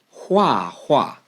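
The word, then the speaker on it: 画画: Anyway, the next word that we want to 介绍 is 画画. That's H-U-A, fourth tone. H-U-A, fourth tone. It's the same character as well, 画画.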